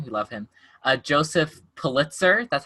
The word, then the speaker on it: Pulitzer: be an artist and after finding out that pulitzer the head newspaper guy has raised the newspaper